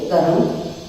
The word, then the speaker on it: कर्म: कहीं इसका रेफ प्रयोग होता है जो ऊपर जाता है, जैसे कर्म, इसका उच्चारण देखिए कर्म।